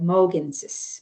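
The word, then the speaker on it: Mohkinstsis: Um and then Mokinstsis, we have Mokinstsis, but we call it Moginsis, Mokinstsis, Mokinstsis.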